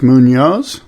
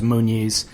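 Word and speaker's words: Muñoz: guy Carlos Munoz yeah is that how you say his name it is how you say his name and you're not the only one who mispronounces it I heard um one of the commentators the the you know professional broadcasters mispronouncing it as munes which is ajo's last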